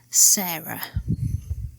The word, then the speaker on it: Sarah: Let's try writing another name, Sarah. Leaving off the H at the end, which isn't pronounced, we would write it like this.